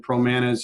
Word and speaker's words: Promanas: man is calm and pro Manas is like rhymes with bananas PR o MA and